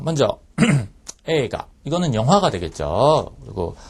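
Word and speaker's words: 映画: 들어가도록 하겠습니다 자 먼저 에가 이거는 영화가 되겠죠 그리고 아이 발음 하실 때 이제 항상 주의를 하셔야 되는데 요거 가라고 써 있지만 실제 발음은 에가라고 발음이 된다는 부분입니다 꼭 좀 명심해 주시고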